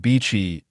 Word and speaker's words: Bichi: The pronunciation of beachy is very similar to the English word How profound and deep.